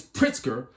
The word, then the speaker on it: Pritzker: have this guy here this pritzker sounds like a drink of spritzer but what he says